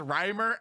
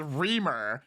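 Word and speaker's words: Reimer: children as poisoned also grossan pronounces Rhymer as reamer I'm just saying she can't even get his name right in 1965 Janet Rymer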